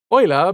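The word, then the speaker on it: Euler: Oiler being one of the most prolific early mathematicians pronounced oiler as in the person who oils things with the vehicle.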